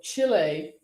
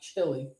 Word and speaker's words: Chile: sure three days ago chile not chili chile passed american equality